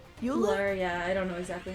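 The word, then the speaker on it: Ullr: Ula? Euler? Yeah, I don't know exactly how it's pronounced. It's like ruler, but without the R. Yes. So we only have Uller for reference.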